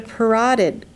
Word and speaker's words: parotid: This is the parotid gland here, kind of rhymes with carotid from the neck.